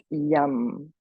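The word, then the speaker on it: yam: for the heart center which is yum just one syllable it's called a bija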